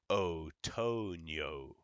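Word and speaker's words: otoño: word broken oh ah but in Spanish whatever o you have is only going to go o so we have otonio okay so like the October in Spanish is October it's not October it's October because o only goes o okay so the vowels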